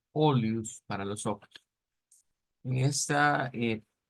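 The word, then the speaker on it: olhos: por la pronunciación verdad de esa l que no no es no es igual no es igual que lo que vendría siendo el el el español pero a veces nos suena parecido nos suena parecido eh vamos a ver segir V entonces acá vamos a poner esta es la misma que está y como les dije más o menos la pronunciación venía siendo como olus olus para los ojos en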